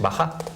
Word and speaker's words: bajá: Un inciso en castellano se decir pasá. Lo que sucede que tenemos la influencia del francés que para pronunciar pasha es pacha, pero tenemos una palabra castellana antigua la época de Zante que es bajá.